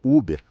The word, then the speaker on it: Uber: Então sim, eu sei que alguns pronunciam Uber ou até mesmo Uber, aparentemente, mas eu gosto da pronúncia 100%, a francesa Uber.